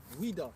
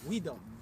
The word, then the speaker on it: Ouida: It's like it was spelled Ouida. Ouida. Yeah. Ouida. That's basically how they say it.